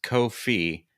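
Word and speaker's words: Ko-fi: about Co Kofi it's it's supposed to rhyme with no fee but because they have a cup of coffee on their logo people think coffee but it's kof fee I don't agree with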